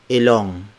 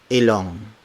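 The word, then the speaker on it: ilong: called the ng consonant it's like the ng sound in sing so mm-hmm so this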